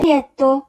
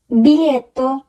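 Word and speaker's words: biglietto: বিলিয়েত্তো, বিলিয়েত্তো, ticket. এখানেও সে একই রকম, মাঝখানে আমরা দেখব খেয়াল করে লেখা আছে GLE এই তিনটি বর্ণ উচ্চারণ হবে লি, এখানে জি উজ্জ থাকবে।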